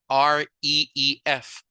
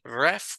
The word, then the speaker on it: reef: And then we have the word reef, R-E-E-F. La doble E hace que suene, ¿verdad? Como I, right? No es ref, ¿verdad? Sino reef, reef.